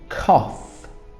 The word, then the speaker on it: cough: Have a cough. So cough is and notice the spelling of cough, the pronunciation is with f, but the spelling is UGH.